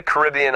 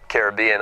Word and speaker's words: Caribbean: Today we look at the Caribbean islands, or Caribbean islands. It really doesn't matter how you pronounce it. Either one is correct.